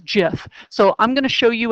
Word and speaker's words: GIF: going to show you a Jif or gif depending on how you pronounce it my son assures me it's jiff so I'm gonna show